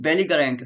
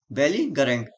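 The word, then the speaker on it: belligerent: आप कैसे बोलोगे इसको? बेली गरेंट, जिससे आप मिस स्पेलिंग में आएगा सही हो जाएगा। बेली गरेंट, बेली गरेंट, बेली गरेंट।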